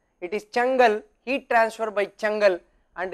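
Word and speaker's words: Çengel: Actually you may feel that I should be pronouncing it as Sengal, but actually this is an Israeli name. There is a small tilde here sitting in the denominator, so that is what makes it called as Chengal.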